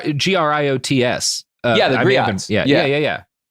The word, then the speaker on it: griots: It's G gr i o ts. Yeah. Yeah. Yeah. Yeah. Yeah. Oh, okay. Cool. I was just pronouncing it probably wrong.